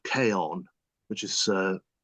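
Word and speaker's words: Chion: a children's book called Kon which is uh spelled c h i o n but pronounced Kon it's either Latin or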